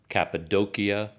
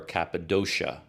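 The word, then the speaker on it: Cappadocia: looked it up and apparently both pronunciations are correct capadia or caposa capid doia or caposa sha something like that anyway that's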